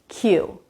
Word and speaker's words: cue: This word is Q, just like saying the letter Q out loud, Q. It also has the same pronunciation as this word, queue.